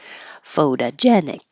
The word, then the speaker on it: photogenic: so rival rivalry photogenic this is a o and fo but the second o instead of toe it's du foda photogenic burglary it's weird it's